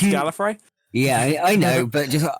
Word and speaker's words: Gallifrey: It's pronounced Gallifrey.